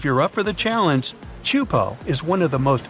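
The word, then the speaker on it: Teahupo'o: all the name itself is a mouthful it's pronounced chupo and it means broken skulls in tahan yeah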